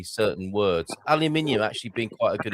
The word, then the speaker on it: aluminium: The spelling is supposed to be the same as other elements like sodium, magnesium, calcium, titanium, and hence aluminium. Although I do like it when I hear Americans saying aluminum.